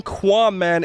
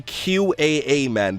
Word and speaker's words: Qaaman: It was supposed to be QAA Man. That's how I originally envisioned the word. It was never supposed to be pronounced like Qua or Qua Man.